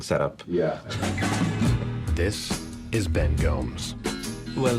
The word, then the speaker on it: Gomes: This is Ben Gomes. Well, the correct pronunciation is Gomes. This is Ben Gomez. But I say Gomes.